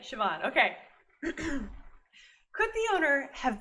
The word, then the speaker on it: Siobhan: Wait, I have to look up how you pronounce this again. It's Siobhan, right? Siobhan.